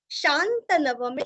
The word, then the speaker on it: शान्तनवं: क्यों श आया है तो आगे शांत नव में श आया है, इसलिए विसर्ग उच्चारण आधा श। युधिष्ठिरश शांत नवम, अनुस्वार का उच्चारण आधा म, शांत नवम पुनरेवाभ्य पुनस्व पुनरेवाभ्य भाषत, भाषत यहाँ का त पूरा पढ़ना है।